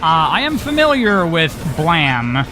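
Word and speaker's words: Blame!: I am familiar with blam which is the correct pronunciation of that even though it's spelled blame uh I watch the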